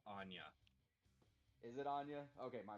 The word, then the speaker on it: Enya: with you i bro the name you're trying to pronounce is pronounced anya is it anya okay